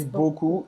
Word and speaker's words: beaucoup: Beaucoup não vai pronunciar esse P no final. Beaucoup, beaucoup. E aqui o E ao U tem o som de O. Bo, e depois é como se fosse um CU.